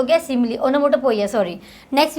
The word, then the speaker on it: onomatopoeia: The next ये ओनोमोटोपोइया, ठीक है, द प्रोनाउंसिएशन इज ओनोमोटोपोइया, यहाँ पे किसी तरह की आवाज़ आती है, साउंड आता है, राइट।